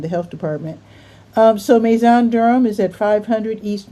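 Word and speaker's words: Maizon: Ma, I'm assuming this is pronounced maison. M A I Z O N. I know with an S it means house in French. So maybe they're being cute.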